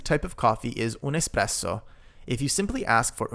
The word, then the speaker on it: espresso: Careful not to pronounce the word espresso with an X. There is no X in the word, simply just un espresso. Un espresso and most coffees are